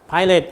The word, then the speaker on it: Pilate: Pilate.